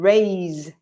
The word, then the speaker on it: raise: And then pronunciation, there's a slight difference with the sound of the S is, so rise and raise, it vibrates, this, which is a sound that we don't have in Spanish.